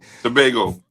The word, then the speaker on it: Tobago: Tobago.